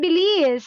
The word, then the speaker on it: believe: believes, No, it's not believe. It's V sound. be, be, believe, Very good.